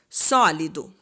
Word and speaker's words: sólido: é a última sílaba então por exemplo né sólido o sólido o dó é a última sílaba mas o do é a sílaba tônica não então ele não é uma palavra oxítona tá agora aqui paroxítonas